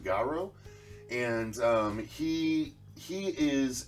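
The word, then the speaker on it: Garou: a guy i think i'm not sure if i'm saying it right obviously but i think it's pronounced garrow and um he he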